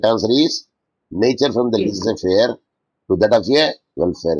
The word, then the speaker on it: laissez-faire: The pronunciation is laissez, laissez-faire, laissez-faire, laissez-faire. French word, let it be.